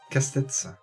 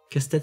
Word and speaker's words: Castets: On dit Castet ou Casse-tête? Casse-tête. Casse-tête, c'est Ouais, c'est les Landes. Hein. Jusqu'au S, on prononce. Ouais, il y a un S, on le dit, ouais.